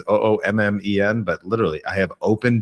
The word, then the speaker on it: Oommen: But it's with a hard PH. Oomen is Oommen, but literally I have open DMs.